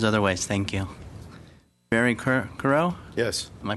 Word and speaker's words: Crower: not well there's other ways Thank You Barry car corral yes am i pronouncing it right does it see you ro w please state your name and address sure Barry Crower I reside at 1 582 Plummer Street in